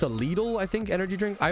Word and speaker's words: Lidl: I say lidle. How to say lidle? It seems like lidle is but this is maybe it's like maybe it's a European verse American thing. Google AI says that lidle is right but that's it could be a regional thing it's so many word